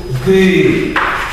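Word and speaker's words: du: Валійською ди. Пишеться так, а читає це. Читається українське і. Побачимо, як пишеться українське і.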